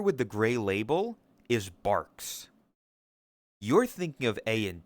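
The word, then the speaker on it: Barq's: the gray label is Barks. You're thinking of A and W root beer, which is a different kind of root beer. It's bark spelled like B A R Q apostrophe S.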